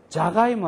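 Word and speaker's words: じゃがいも: 자부똥 할 때의 자는 사의 타금인 자지만은 그죠? 자가이모 할 때는 자입니다. 자부똥 자가이모 자. 그 발음을 잘 유의를 하면서 스스로 발음을 여러 번 해보세요.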